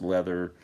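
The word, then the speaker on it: Läther: they were all involved in a project called leather which is actually spelled l a t h e r like lather but it's spelled it's pronounced leather it had Sleek dirt uh uh orchestral favorites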